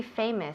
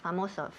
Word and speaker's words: famous: Famoso. Famous. Cuidado con la palabra famous, porque muchas veces oigo famos. Famos? Uy. No. Okay. We don't want to say famos.